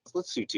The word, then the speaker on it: Lesotho: in again it's spelled le sotho but it's pronounced let's see too if you just type it into google and